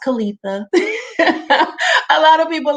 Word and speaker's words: Kaleitha: i spell my name it's pronounced kalitha a lot of people like to say kalithia and i get it